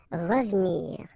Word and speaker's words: revenir: Well, here it's exactly what we've been saying, because it's the second syllable, so you get re and then ve and nir, but then clearly you don't pronounce it, so you get revenir, revenir, okay?